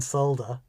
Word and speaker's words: solder: Paul as Pieta says, there's definitely an L in solder, but when we Americans say solder out loud, it sounds like we're saying we sold a human female.